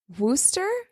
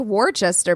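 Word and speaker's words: Worcester: that area werer yeah it's spelled like Worchester but it's warer but it's not that it's Worster Worster whatever Massachusetts for grad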